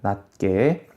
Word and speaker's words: 낮게: 낮게 할 때 티읕은 디귿이고 이 디귿 때문에 뒤에 있는 기역이 쌍기역으로 바뀌게 됩니다. 낮게.